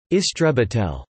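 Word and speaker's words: истребитель: Exceptions include Russian, where a fighter is an istrebitel, pronounced istrebitel, meaning exterminator, and Hebrew, where it is matos krav, literally battle plane.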